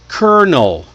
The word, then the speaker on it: colonel: We spell it c o l o n e l, but somehow we say kernel, like popcorn kernel.